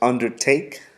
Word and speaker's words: undertake: again the word is undertake emphasis on the third syllable go ahead and write